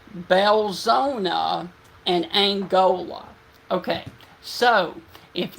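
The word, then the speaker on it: Belzoni: It is pronounced Belzona and Angola.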